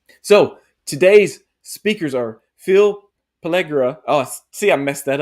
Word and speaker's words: Pelligra: You pronounced it right. It's Pelligra. You said it right. Pelligra.